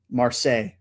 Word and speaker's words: Marseille: Marseille. I believe that's how you pronounce it, the French way.